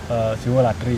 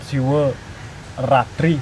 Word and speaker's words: Siwaratri: Yang, Sebenarnya yang benar itu yang mana? yang terdapat di sastra kan Siwo Ratri pakai R ya.